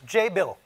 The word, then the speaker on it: Jabil: to talk about is Jay bill rhymes with enable so um how many